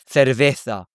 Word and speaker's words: cerveza: Or for example, beer is cerveza, they might say cerveza.